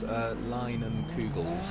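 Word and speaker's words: Leinenkugel's: It's pronounced Leinen Kugels. Oh, cheers, man. Leinen Kugels.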